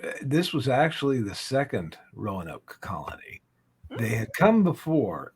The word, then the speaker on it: Roanoke: Lost Colony of um my Canadian brain wants to pronounce it Ron okay Johnny had to correct me on that a couple weeks ago uh but yeah so the Lost Colony of Rowan Oak um who wants to